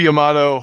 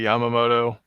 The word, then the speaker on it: Yamato: hell or whether it's It's supposed to be Yamato. A lot of people say Yamamoto. No, it's the emphasis, whether you put it on the ya or the mo, or ya or ma.